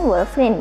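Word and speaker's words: Wolverine: FR Iya Wolverin verin Tapi bacanya Wolverin ya od38 ya sobat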